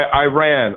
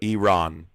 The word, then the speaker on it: Iran: Iran is how you say it. Iran. How How How do I say it? I ran, like I ran down the street. It's Iran.